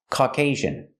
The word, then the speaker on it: Caucasian: This word is pronounced Caucasian. Caucasian. Put the stress on the second syllable. And the second syllable has a long A sound.